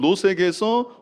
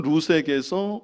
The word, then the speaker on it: 룻: 살몬은 라합에게서 보아스를 낳고 보아스는 롯에게서 오벳을 낳고 오벳은 이세를 낳고. 제가 롯이라고 읽었는데 룻이죠. 예. 보아스는 룻에게서 오벳을 낳고.